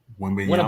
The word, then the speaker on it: Wembanyama: Wembanyama. Winnebea. Wembanyama. So, but, You know, You I'm sitting there tried, trying to yeah.